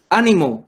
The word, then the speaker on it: ánimo: quien cualquier letra termine es importante que se cargue la voz en la ante penúltima sílaba ánimo quien separan sílabas ah